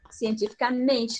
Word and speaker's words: cientificamente: A palavra, a sílaba mais forte agora é o men, cientificamente.